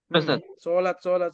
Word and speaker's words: salat: Sholat. Abdurrahman. Oke. Qayyim. Reski. Yang benar adalah tarfiyah yang benar. Salat. Ya, jadi kalau Indonesianya tulisannya salat. Walaupun karena Anda jurusan bahasa Arab, bacanya sholat.